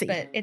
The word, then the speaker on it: Ratatoussy: But it Because it's sounds like a rat mass, Rat-macy. but it's a rat mussy. But that's how it's pronounced.